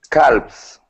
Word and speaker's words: calves: so the L okay the L in this word is going to be uh silent so the word is actually Cales Cales calves okay the L is